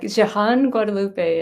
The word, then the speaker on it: Jehanne-Guadalupe: great job at at texting you how to pronounce it um it's Jan Guadalupe and it's a mouthful for sure and but